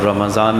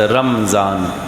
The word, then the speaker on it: رمضان: نام سے جانتے ہیں۔ بعض لوگ رمضان کہتے ہیں، میم کے ساکن کے ساتھ رمضان، یہ غلط ہے۔ قرآن میں آیا شہر رمضان رمضان الذی، میم کے زبر کے ساتھ، تو صحیح تلفظ اس کا رمضان ہے، رمضان غلط تلفظ ہے۔ رمضان کے معنی ہے